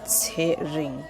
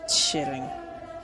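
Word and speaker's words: Tsering: TSH e-r-i-n-g sharing so it's string the names pronounced like say ring not sharing no the next next name is THU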